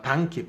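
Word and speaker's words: donkey: 이번에 우리가 당나귀를 나타낼 때 우리가 덩키라는 말 쓰잖아요. 당키, 발음은 당키입니다.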